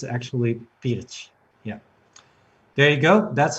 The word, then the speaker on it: Pirc: So I said perch, but it's actually Pirch. Yeah. There you go. That's how you pronounce it, everybody.